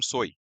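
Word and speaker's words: soy: तो इसको देखिए इसको प्रोनाउंस करते हैं हम सोई। यह सोए नहीं है। यह सोई है।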